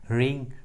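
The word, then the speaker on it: wring: डब्ल्यू का आवाज़ नहीं आ रहा है, डब्ल्यू साइलेंट है। रैप एंड राइट। उसी तरह रिंग, रॉन्ग, रिस्ट।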